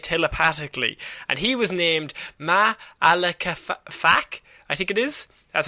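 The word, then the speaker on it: Ma'alefa'ak: ability to communicate telepathically, and he was named Ma'alaka-Fak, I think it is. That's how you pronounce it, and whose name means darkness in the heart.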